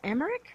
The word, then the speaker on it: Emerick: seminar tom emerick yeah is it emmerich america america okay uh i've been mispronouncing it as america i don't know i